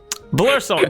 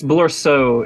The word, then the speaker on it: Blorso: Blursalt, give me a quick perception check. Also, it's Blursalt? It's Blorso.